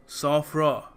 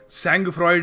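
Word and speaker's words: sang-froid: complicated क्यों रखते हैं ये देखो इस शब्द को प्रोनाउंस करने का सही तरीका है सोफ्रॉ सौ फ्रॉ बिल्कुल सेंग फ्रॉयड नहीं है सोफ्रॉ क्यों सर फ्रेंच वर्ड है जी हां बिल्कुल फ्रेंच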